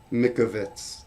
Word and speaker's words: Mikovits: Mikovits. Thank you, Aspen, for the pronunciation.